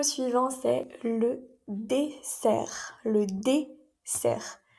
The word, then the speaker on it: dessert: Le dessert. Cuidado también con la pronunciación, aquí sería s. Existe otra palabra muy similar que es le désert y es el desierto. Así que cuidado con la pronunciación.